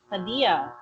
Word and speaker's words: Khadija: Yes, Khadija? you do. Yes, you do. Right. In Poland, Polish, the letter J is pronounced as a Y. So Khadija would be said Hadia. something like Khadia.